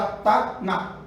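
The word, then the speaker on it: Tanakh: Que dá Taná, né? Taná, tá? Sem a pronúncia do K, não existe, tá?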